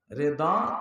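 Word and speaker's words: رضا: রেদা কার, দেখেন অর্থ না বুঝলে গালি হয়ে যায়। রেদা বা রেজা মানে হলো, রেদা মানে সন্তুষ্টি।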